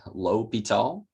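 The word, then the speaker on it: L'Hôpital: That's how you pronounce his name, phonetically L'Hopital.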